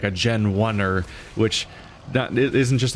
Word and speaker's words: Genwunner: Like, they've made up a weird made up like thing that is like, it's still pronounced the same way as Gen 1er, but it's spelled bizarrely so they can make